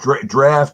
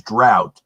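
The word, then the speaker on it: draught: When you see that word D-R-A-U-G-H-T, it's actually the old English way of spelling draft. So it's pronounced the same as draft. It's just an older way of spelling it. Okay, so it's draft, even though it says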